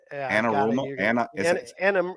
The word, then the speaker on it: Anarumo: That's why I will not completely discount them going back to Spags or I can't pronounce his name. Is it Anarumo? Anarumo.